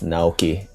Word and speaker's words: Naoki: Yes, Naoki.